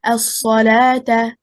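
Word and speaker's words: الصلاة: For example, as-salata, az-zakata. We do not pronounce waw, and yet it is written like this in all the Qur'ans.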